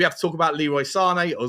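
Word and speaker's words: Sané: well as we have to talk about Leroy Sane or Zane as I've now been told on how to pronounce it.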